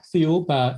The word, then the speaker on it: Thiaoouba: right off the bat where does the word thea ubba and i hope i'm pronouncing that correctly come from yes the word theoba is actually the name of the planet in